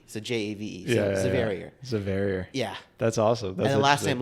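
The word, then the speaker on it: Javeria: my first name is zavier but there's a little bit of a caveat the J is pronounced like a z but you you spell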